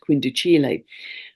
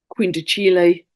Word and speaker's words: quindecile: Noel Till, my tutor, always used to pronounce it quindicile.